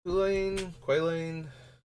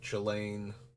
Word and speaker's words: Quaylane: I'm 99.9% sure it's a hard K sound, not a, or a hard C sound, so a K sound, not a, like a like Chilane. Pretty sure it's supposed to be like the old Irish / early English.